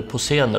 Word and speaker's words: Posener: Hade han sagt Posner så hade jag ringt en klocka, men han uttalade det Posener och jag ringde ingen klocka.